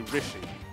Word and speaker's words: Rishi: I was pronouncing his name wrong. It's actually Rishi. Yeah, Rishi.